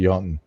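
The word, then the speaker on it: Janteloven: It's spelled Jonteloven. And we pronounce it Jotun.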